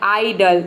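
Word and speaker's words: idle: के क्या बन गया आइडल ठीक है अब देखिए यहां पे जो ई है ये साइलेंट है क्योंकि वर्ड के अंत में आया है ये वीडियो पसंद आ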